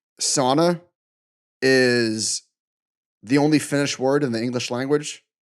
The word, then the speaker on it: sauna: Somebody said that like sauna is the only Finnish word in the English language, or something like that. It's a Finnish word, and it's actually pronounced sauna.